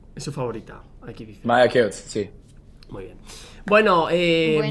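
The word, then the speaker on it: Maja Keuc: Ah, es que a ver la pronunciación. Maye Keuk es su favorita. Aquí dice. Maya Keots, sí.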